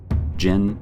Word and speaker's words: jinn: variations a little differently the most authoritative sources I could find broke it down into two main sounds Jen and genie if you have sources